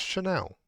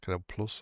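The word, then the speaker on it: Canal+: Is that pronounced Chanel? Was it Canal Chanel? Isn't that like a beauty products? That's pronounced Canal Plus.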